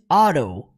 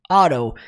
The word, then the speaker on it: Otto: que é Otto octavius o nome dele é pronunciado em inglês auto auto então é tudo com